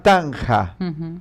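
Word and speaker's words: taṇhā: En el hinduismo, en el budismo, hay una palabra que se llama tanja. Se escribe T-A-N-H-A en castellano, ¿no es cierto?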